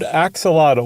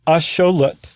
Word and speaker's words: axolotl: axelottal, is actually um asholut, even though it's spelled the exact same way in the nawat language. Um atloned lut and x is very often pronounced show.